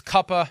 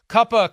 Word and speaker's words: Cooper: and it's kind of that, remember that, like, and it's that, they have that bizarre pronunciation of Cooper Manning. It's Cuppa Manning. So right. isn't it like this weird Southern Cuppa?